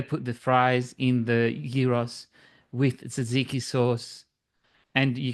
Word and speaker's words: gyros: Yeah, gyros. You have to roll the R. Gyros. Euros. Euros. Gyros is souvlaki, and I love gyros. And in Greece, they put the fries in the gyros with tzatziki sauce, and